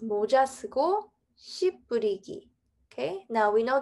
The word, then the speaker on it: 씨: It's 씨, 쌍시옷, and 이, 씨.